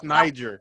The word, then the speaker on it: Niger: Okay, Yes, Niger. make sure because it's pronounced one way, of course, in Slavic and another way in English, and I just didn't not want.